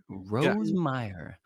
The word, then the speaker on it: Rosemeier: know and it's awesome did I up your last name no that's exactly how you say it that's two in a row Rose Meer Matt were you as